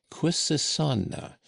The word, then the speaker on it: Quisisana: ornamental gilt lettering, was the word Quisisana, by which name the retired little dwelling was known throughout the town, where they pronounced it with a very soft S and a very broad A.